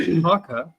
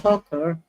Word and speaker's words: PAUCA: PAUCA is pronounced PAUCA, and as a greeting, it means I got your back. Yeah. PAUCA. It's not poker. Don't get it wrong. It's PAUCA. PAUCA.